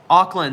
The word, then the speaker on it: Auckland: Auckland, there we go.